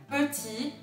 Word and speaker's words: petit: Mon ordinateur est plus petit que le sien. Meu computador é menor do que o dele. Mon ordinateur est plus petit que le sien. Petit, o T no final não se pronuncia também.